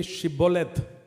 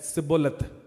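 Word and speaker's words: Shibboleth: of the words, because the Ephraimites were not able to pronounce the word Shiboleth. They only way always say Siboleth.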